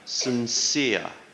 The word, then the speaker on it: sincere: on the fourth syllable sincere sincere stresses on the second syllable sincere photograph the stresses